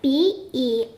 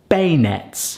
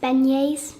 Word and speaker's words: beignets: - It's spelled b-e-i-g-n-e-t-s. - And I would pronounce that "bay nets". How would you pronounce it? - It actually says it's pronounced "ben-yays" - Ben-yays.